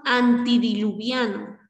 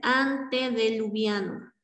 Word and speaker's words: antediluviano: Tenemos antidiluviano, cuando lo correcto es antediluviano.